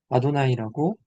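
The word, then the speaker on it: אדני: 그래서 굳이 계속해서 각주로 반복 안 해도 이미 그냥 기본적으로 읽는 사람은 아도나이라고 읽는다. 야외라고 읽지 않고 아도나이라고 읽을 수 있다.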